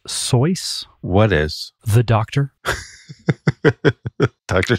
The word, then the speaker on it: Seuss: to whom him wow there was some kind of rhyme that he wrote down that suggested that it was soy not Seuss yeah okay did you